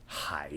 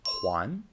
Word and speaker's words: 还: Chinese like when choosing between a or b high shoe good this character pronounced hi is an adverb like in haikui which means it's okay but not perfect as a verb this character is pronounced Juan and means to return something a common example